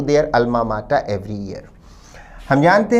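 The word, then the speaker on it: alma mater: दान करते हैं अपने अल्मा माटा को विद्यार्थी इस शब्द पर भी ध्यान दें शब्द का उच्चारण है अल्मा माटा अल्मा माटा का अर्थ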